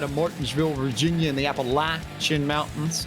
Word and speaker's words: Appalachian: Martinsville, Virginia in the Appalachian Mountains. And it is a short A for those who might not necessarily be so grammatically inclined.